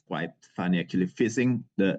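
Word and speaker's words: phishing: it's quite funny actually fishing the the way you pronounce this is like you fishing actually so it's uh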